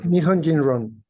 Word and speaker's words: Nihonjinron: to us transatlantic, transnational belonging, and would you pronounce that for me, Professor? Nihonjinron.